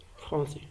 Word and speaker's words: français: Il y a une cas exception comme français. Donc on prononce S. Donc la lettre dans le mot français, on a la lettre C avant A. Donc on prononce S parce qu'il y a une CD.